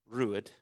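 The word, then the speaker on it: Ruadh: Rude for rhymes with number four.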